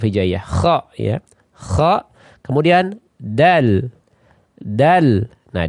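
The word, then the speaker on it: د: Nah, dal juga sering orang salah nanti mengucapkannya dengan dal. Ya, dal ya. Sekali lagi ini ucapan yang keliru. Dal. Dal, ujung lidahnya menempel di ya pangkal 2 gisir atas.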